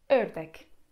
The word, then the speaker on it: ördek: Wymawiamy otwierając usta tak jakbyśmy chcieli powiedzieć o i mówimy e. I przykładem jest tutaj słowo ördek.